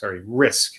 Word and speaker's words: risque: Risk. They spell it like risque, though.